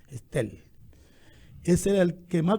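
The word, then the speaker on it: Stell: Se escribe S-T-E-L-L, no es Telling, Estel.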